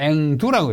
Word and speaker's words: 앵두: 호도가 아니고 호두라고 읽고 앵도인데 앵두라고 읽고 자도인데 자두라고 읽습니다.